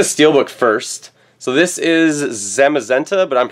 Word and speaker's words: Zamazenta: look at the steelbook first so this is zamazenta but I'm pronouncing that wrong how do you pronounce his name no that's right nice this is zamazenta on the other side we have zian and